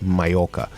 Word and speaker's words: Mallorca: It's Mallorca. The L's are silent for some reason, even though there are two of them.